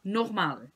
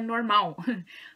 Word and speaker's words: normal: Primeiro vamos ver a palavra normal. Cuidado com a pronúncia, não é normal, como vocês falam no português, yeah? Normal. A ênfase é no ma, só que cuidado com a pronúncia do L.